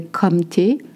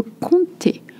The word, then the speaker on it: comté: You don't say comté. Le comté.